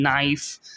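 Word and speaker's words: knife: আমি মানে সবচেয়ে অবভিয়াস এক্সাম্পলগুলো হবে এটার, যে ধরেন নাইফ, তারপরে হচ্ছে নি, KNW, তারপরে PLM পাম, ওগুলো তো সাইলেন্ট লেটার, ভালো কথা, ওইটা তো সবাই কম বেশি জানি।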